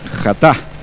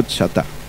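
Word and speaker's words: חטא: Entonces ahí aparece la palabra jatá en hebreo. Jatá o chatá.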